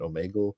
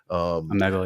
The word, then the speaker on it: Omegle: But let's start talking about the Omegle.